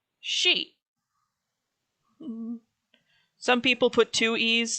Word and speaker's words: Sidhe: supposed to be spelled s-i-d-h-e is actually pronounced she some people put two